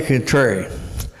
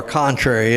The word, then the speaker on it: contrary: Gregory Allen, don't be contrary." W- What contrary mean? Or contrary as we would correctly pronounce it.